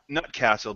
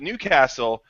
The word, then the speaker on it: Newcastle: a big fan of not nut castle but new castle brown ale and it